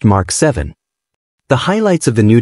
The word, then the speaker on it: VII: Sony has announced its latest flagship smartphone, Xperia 7, pronounced Mark 7.